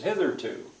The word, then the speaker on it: hitherto: How many syllables? Hitherto. And which one is stressed? Hitherto. I hope they would hear it, that there are 3, and the first one is stressed.